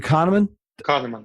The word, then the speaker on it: Kahneman: book Thinking Fast and Slow and how he pronounces last name Kahneman that's right dr.